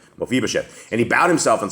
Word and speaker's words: Mephibosheth: Mephibosheth. Mephibosheth.